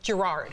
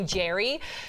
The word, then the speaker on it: Gerard: to cut the BS because most Americans all Americans we all call him Gerard yeah his name is now there's an AR but I guess in Scotland you don't pronounce said R so it's like my name's Jerry so sick of Americans calling him Gerard so he's always asked me even on the carpet call me Jerry so we stick to